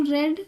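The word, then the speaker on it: read: Subject you, have you रेड, रीड का third form रेड होता है, प्रोनाउंसिएशन बस हम चेंज करते हैं, हैव यू रेड रामायण, ठीक है।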